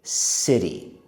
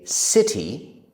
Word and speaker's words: city: about how to say city. There is the letter T in that word. But as an American, I say it like the letter D. I say city. Both are okay. You can say city or city.